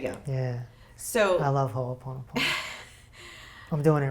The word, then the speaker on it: Ho'oponopono: Because I can't even pronounce that. I know Ho- it's Hawaiian. Ho'oponopono. There you go. Yeah, So I love Ho'oponopono.